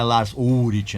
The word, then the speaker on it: Lars Ulrich: Essa que é a pronúncia, né? É Lars Ulrich, nada desse tipo de coisa.